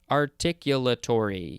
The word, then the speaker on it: articulatory: now we have articulatory articulatory yep that is the correct uh emphasises on the syllables this is an adjective